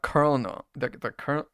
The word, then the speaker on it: colonel: Now, the colonel, colonel. How do you say the word colonel? The colonel, whatever. Colonel, it's like a corn kernel. You say the same way.